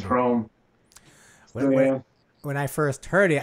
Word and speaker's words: hrom: that's our bad name the slovak word for thunder is chrome when i first heard